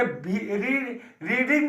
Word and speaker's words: read: तो रेड हो जाएगा, तो रीड का, यानी कि रेड पढ़ेंगे लेकिन स्पेलिंग वही रहेगा, READ। यानी कि जो रीड का स्पेलिंग होता है वही रेड का स्पेलिंग होगा, लेकिन यहाँ रेड पढ़ेंगे।